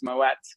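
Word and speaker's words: Moët: a dutch name and that's why you pronounced it and that's why it's not silent and i felt so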